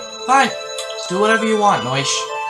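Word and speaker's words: Noishe: Fine, do whatever you want, Noish. Yes, it is it is said Noish. Yeah, it's said Noish.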